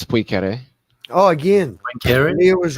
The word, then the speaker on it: Poincaré: Just like everybody says Poincaré, it's Poincaré. Oh, again, Poincaré? Leo was right. His pronunciation is right again on a totally different thing that nobody was talking about.